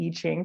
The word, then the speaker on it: I Ching: You can see it's written with an I, but it's pronounced with an E.